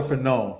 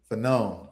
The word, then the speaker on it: Fanon: but I've always said Fanon. But some people say Fanon, Fanon. I've heard. As far as I ever got with French pronunciation, I believe the accent is supposed to be on the last syllable, but okay, who knows?